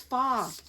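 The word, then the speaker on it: pho: you friend or foe actually i always say faux it's not faux it's far oh it's spelled p-h-o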